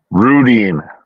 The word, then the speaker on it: Rudeen: with uh what how do you say your last name randine Rudy what is it rudine Rudin okay rudine um I yes he